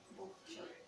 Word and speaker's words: Bouchot: Bouchot. ¿Pero cómo Jimena, se pronuncia? Bouchot.